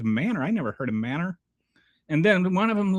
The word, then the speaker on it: Manor: So MANOR, which the rest of the civilized world calls manor, in Texas, it is pronounced Manor.